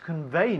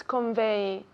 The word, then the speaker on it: convey: Convey, convey, not convey, it's un V, convey, again? Convey. Así, muy bien, casi como un F, yeah?